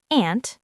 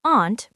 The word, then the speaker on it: aunt: Aunt can be pronounced aunt American or aunt British. Both are correct.